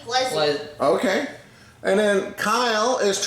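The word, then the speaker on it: Plezi: I mean, you can see from the way it's spelled, P-L-E-Z-I. That would be Pleasy.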